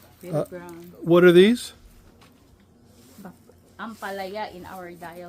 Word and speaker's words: ampalaya: Ampalaya in our dialect. Ampalaya.